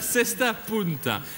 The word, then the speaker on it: Cesta Punta: Vous avez raison et vous le prononcez bien. La Cesta Punta est le nom du bateau de Magellan, une